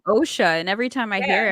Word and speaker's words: Osha: my bowels any who so Asha OSHA there's a couple of characters kind of mispronounce it a few times it's like my name people be Taking Liberties they give her the times oh her name is OSHA and every time I